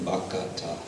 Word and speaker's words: bhakta: And usually, this is substituting, this is kind of the opposite of what I mentioned before, where there's an adding of a syllable, bhakata, bhakata, instead of bhakta.